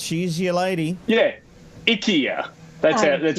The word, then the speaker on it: IKEA: Yeah, IKEA. That's how you pronounce it.